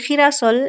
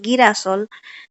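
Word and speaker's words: girasol: Fiesta অনেকে বলে ফেস্তা তারপর হচ্ছে খিরাসল এটাকে অনেকে বলা হয় অনেকে বলে গিরাসল গি হবে না কারণ খে ই হলে হয় খি তাই না আচ্ছা হসপিটাল এটাকে অনেকে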